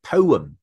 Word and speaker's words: poem: 係啦，嗱呢個字好多人讀錯。A poem，我成日聽到 A poem，唔好 poem 啦，仔啊女。A poem 其實係兩個 syllable 嘅 poem。Poem, okay.